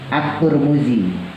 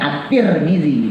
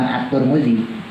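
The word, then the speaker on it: الترمذي: ada yang baca at-tirmidzi ada yang baca at turmuzi tapi jumhur ulama bacanya at-tirmizi bukan atur mudzi tapi ada beberapa ulama yang nyebutnya atur Muji jadi memang ada beberapa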